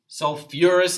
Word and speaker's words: sulfurous: And then this is sulfite, and this is sulfurous acid. Again, sulfur, the sulfate and sulfite, they add back that syllable.